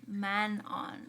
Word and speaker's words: Manon: I'm not a fan I feel like if with an English accent that's probably better than Manan man but in the French which I think her name sounds very French she like man Mano is the right pronunciation yeah it's my sorry